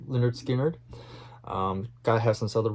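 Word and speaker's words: Lynyrd Skynyrd: one because like i said it's pretty depressing leonard skynyrd their debut album pronounced leonard skinner um god has some southern rock in here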